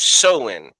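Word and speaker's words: Samhain: The ancient Celtic festival of seen, right? It's spelled s a m h a i n, but it's a it's an ancient it it's pronounced soen.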